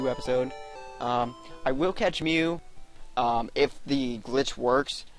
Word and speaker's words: Mew: all must hell and his name begins with me and rhymes with two except for not at all but there's actually two Pokemon that I got to go catch and um one's Mew and the other's meww